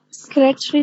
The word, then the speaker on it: secretary: Secretary, Doctor. Again? Secretary. Try again. Secretary. Secretary. Oh. Secretary. Secretary. So it's not secretary, yeah? Again, the A after the T is silent.